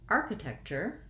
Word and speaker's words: architecture: a vowel sound next looking at the word architecture i still have first syllable stress and the beginning of three syllables are the same and then i have to add my t-u-r-e actually says the c-h sound chur cher the ch plus the u-r-e says the er architecture um so that